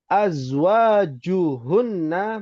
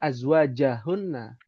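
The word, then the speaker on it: أزواجهن: Kenapa Ibu Rumaisa membacanya azwajahunna? Ya. Dia tidak fathah harokat akhirnya. Azwajan, bukan azwaja, tapi azwaju. Azwaju hunna. Ya, karena tidak ada huruf ataupun kosakata yang menasabkan atau memfathahkan harokat akhir.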